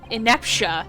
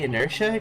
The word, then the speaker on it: inertia: Or the force of ineptia, if you want to call it that. Are you trying to say inertia? Because that's how you say it, you fucking twit.